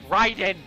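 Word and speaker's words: Raiden: kombat is pronounced rated i don't care they pronounce it wrong it's ryden not raising writing i was not sure if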